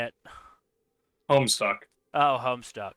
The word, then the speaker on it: Homestuck: No, it rhymes with Rome sucks. Just say it. Homestuck.